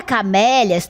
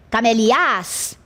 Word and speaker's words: camélias: E se eu deslocar para trás, para a última, ficaria camelias? Também não é assim que se pronuncia, certo?